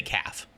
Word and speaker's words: calf: I just love saying the extra L in that word. Because I think you say calf. Calf is what you say.